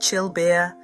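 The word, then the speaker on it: çılbır: Chilbur, pronounced chillbeer, sounds simple.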